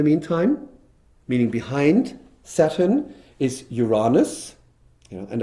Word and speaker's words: Uranus: meaning behind Saturn is Uranus, and I would recommend to always pronounce it in the British English way and not in the US American way, because there could be some misunderstandings.